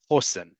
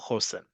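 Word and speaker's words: חוסן: Chosen is how we say Khoshen. Khoshen. The um in this case the uh the emphasis on the first syllable, Khoshen.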